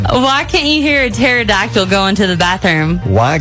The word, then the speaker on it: pterodactyl: can't you hear a pterodactyl going to the bathroom why can't you hear a pterodactyl going to the bathroom oh no I did because it has a silent P oh P got you